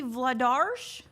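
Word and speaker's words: Vladař: DA Flyers man says, now that I know Vladar's name should be pronounced with a sh sound at the end, I've come up with a new nickname.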